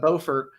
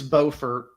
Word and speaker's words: Beaufort: correct actually correction pronunciation north carolina is beaufort south carolina is beaufort so it's beaufort yep again this is